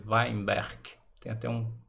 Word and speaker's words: Weinberg: fala a portugues an né a gente fala weberg mas o eh parece que a pronúncia correta é weinberg tem até um k no final aí né